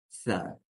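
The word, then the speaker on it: ث: Буква Са произносится с кончика языка вместе с кончиками верхних резцов. То есть, как здесь на рисунке. Са. То есть, язык уходит между резцами. Са, са. То есть, именно кончик языка дотягивается до верхних резцов, то есть, кончиками верхних резцов.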